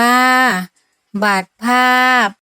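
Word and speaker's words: บัตรภาพ: ประถมศึกษา ปี ที่ 1 บัตร ภาพ อ่าน ว่า บัต ภาพ สมุด อ่าน ว่า สมุด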